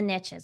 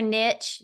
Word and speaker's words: niche: riches are in the niches we hear that all the time and whe you whether you say n Niche or Niche Niche rhymes with Rich so we're going to go with niche I like it it